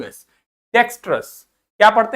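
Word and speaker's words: dexterous: आर ओ यू एस डेक्सस क्या पढ़ते हैं इसको डेक्सस डी ई मतलब डे एक्स मतलब एक्स टी मतलब टे हमने वो श वाला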